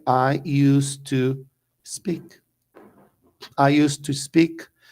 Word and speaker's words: used to: do gato aqui é a pronúncia é e US to é com som de s US to us to